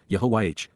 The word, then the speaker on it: Yahowah: contempt, by Yahowah, Yahowah, God's personal and proper name, pronounced, Yehovah, based upon Haya, to exist.